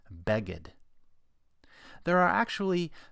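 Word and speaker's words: בגד: Its first letter, bet, has the Dagesh kal, because it's a letter that has two possible pronunciations, be and ve. That means we need to know whether to pronounce this word beged or veged.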